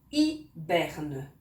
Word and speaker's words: hiberne: qu'on n'entend pas ils hibernent de vonnas h comme tout à l'heure avec le hérisson 1h qu'on ne prononce pas évidemment il hiberne ça